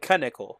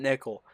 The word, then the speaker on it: Knickel: It's Knickel, not Nickel. So Knickel will be the way we pronounce that.